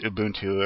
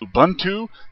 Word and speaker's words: Ubuntu: to how it's pronounced i believe it's pronounced ubuntu if some british wants to say it's pronounced ubuntu then you know he's on crack and i don't care so